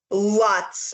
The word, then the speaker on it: Lutz: sorry i just want to make sure i'm pronouncing that poor family's name right lutz not london family claim paranormal things happen there